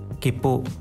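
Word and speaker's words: きっぷ: Jadi dari K ke P-nya itu ditekan Minasan.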